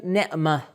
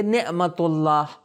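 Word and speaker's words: نعمة: ہم تلفظ کرتے ہیں۔ عربک میں اگر آپ رکنا چاہیں گے تو آپ کیا تلفظ کریں گے؟ نعمہ، ہا کا تلفظ کریں گے۔ لیکن اگر آپ کسی چیز سے اس لفظ کو جوڑنا چاہے تو تا کا تلفظ ہوگا، آپ کہیں گے نعمت اللہ، یعنی اللہ کی نعمت۔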